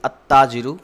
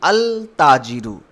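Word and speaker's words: التاجر: So I am saying at-tajiru. Here I am directly reading alif and then ta. I am not pronouncing the lam. I am not saying al-tajiru.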